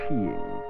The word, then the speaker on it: skiing: the winter sport of skiing pronounced sheing with a joyous Galant